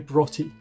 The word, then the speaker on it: Broughty: Broughty. Just imagine B-R-O-T-T-Y. Broughty.